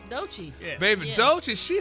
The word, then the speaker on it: Doechii: Doechii? Doechii.